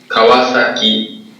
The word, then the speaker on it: Kawasaki: these names here so let's start with kwasaki this is how the word is pronounced Kawasaki have you ever said that